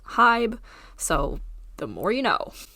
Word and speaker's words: HYBE: By the way, I thought they were pronounced HYBE until like 5 minutes ago, and I had to Google it, and turns out they're pronounced HYBE, so the more you know.